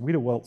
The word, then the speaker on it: Wediwelt: But luckily, the swells there, pronounced Wiedewelt swells for the Wiedewelt family who formerly owned